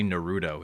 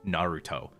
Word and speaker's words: Naruto: don't know Japanese sensibilities they'll say Naruto instead of Naruto Naruto Naruto so it's